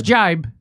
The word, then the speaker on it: jibe: Is it jive or no, jibe? It's jibe. It is.